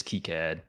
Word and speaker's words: KiCad: I know like because I sponsored KiCad Con one time and like the guy running it like I think the official pronunciation is KiCad.